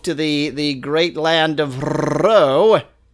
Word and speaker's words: Ro: Teleport myself to the great land of Row, which is meant to be pronounced rolling your R as much as possible.